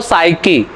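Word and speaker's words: psyche: P को तो हटा ही दो, फिर पढ़ लो साइकी, और साइको इसी से बना है।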